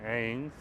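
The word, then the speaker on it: Agnes: That's how you pronounce it, Ains. The G is almost silent. It gives a little curl to it, Ains.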